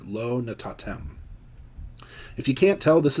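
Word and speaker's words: לא נתתם: 11 Low not tatem Lo natatem the accent would be on the final syllable here Lo natatem if you can't tell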